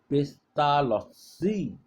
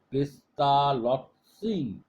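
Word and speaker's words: Pestalozzi: এরপর আসছে আসছে পেস্তালসি। পেস্তালটসি পেস্তালটপসি এখানেও বানানটা বলছি পিই এস টি এলও জেড জেড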